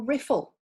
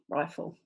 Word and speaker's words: rifle: we close it up do you want to say rifle or riffle did get it rifle but if you have